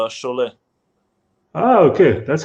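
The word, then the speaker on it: Šiauliai: make any mistakes there it's basically the same as uh the french french club chole ah okay that's how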